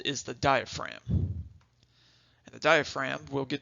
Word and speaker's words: diaphragm: And yes, it is spelled a little funky. It's got that silent G in there. Diaphragm is how you say it.